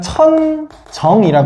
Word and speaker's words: 천정: 관측자 기준에서 수직으로 선을 그어 보면어요 지점을 뭐라 그러냐면 천정이라 그래요. 천장하고 되게 발음이 비슷한데 천정이라고 하고요.